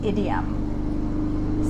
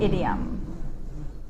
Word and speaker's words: idiom: So Antonio asked me how to pronounce idiom. So it's kind of like the word idiot, but with an M on the end. Idiom.